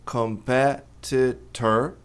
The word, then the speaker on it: competitor: Competitor mais veja, t ladeado por vogais tem dois, tem esse aqui também, mas a tônica é no p. Portanto, no inglês americano, esses dois ts vão ser pronunciados como re.